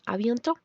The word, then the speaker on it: à bientôt: La tilde de la A es acento grave, así como en à plus tard. Encontrarán este acento en la A, E, U, para hacer que se pronuncie con la boca abierta.